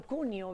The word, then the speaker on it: Cuneo: Está Silvio Cuneo Pareto, debería de pronunciarlo Cuneo, ¿verdad?